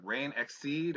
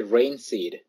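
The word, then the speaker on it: Reinxeed: Is it Rain Exceed or? No, it's actually Rain Seed.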